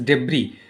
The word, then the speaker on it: debris: The movement of rocks, debris, this is debris, so the pronunciation is debris, S is silent.